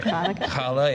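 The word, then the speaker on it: challah: we did Hanukkah candles we she brought in kala is that right is that how you say it the bread yeah okay I want to make sure kala yeah and um yeah I don't know I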